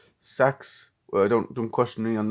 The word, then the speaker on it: CEX: These are all the pickups I got, and yeah, let's see the CEX-mas or CEX-mas, because CEX is officially pronounced sex.